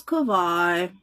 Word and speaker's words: Kawhi: Today I learned how to pronounce Kawhi. The V is like a W.